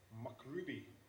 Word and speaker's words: MacRuby: on Rails and um this is the way he pronounces Mac Ruby MC Ruby macruby macruby is Ruby for Scottish people right so the audio